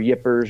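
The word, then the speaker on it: Ypres: there's a in the city of EEP or yeppers or there's a couple of different pronunciations but in Belgium where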